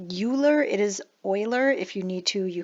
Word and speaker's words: Euler: an exponential function so the number e or euler's number and this is the reason actually we don't use e as a variable very frequently and e is approximately equal to 2.71828 okay this is called euler's number and that is in fact how you